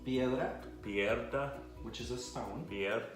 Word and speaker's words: piedra: Piedra, Piedra.